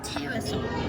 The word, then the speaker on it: pterosaur: Not they evolved in the ocean, and then stayed This here is a tiny little pterosaur. It's pronounced terosaur. No no P. The P is silent.